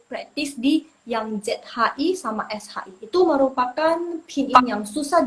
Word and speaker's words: 谁: Habis itu yang shi, shi, shi, bacanya lebih bulat. Jadi lidahnya kayak naik, tapi dia nggak sampai ke langit-langit, tapi dia nggak menyentuh langit-langit. Jadi shi, jadi makanya dia bisa bulat.